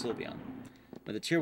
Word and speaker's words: Sylveon: also net of the silvian silveon i always mix the two pronunciations i know it's sylveon by the tier 1